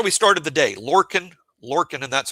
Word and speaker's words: Lorcan: Lorcan Lorcan and that's how you pronounce his first name.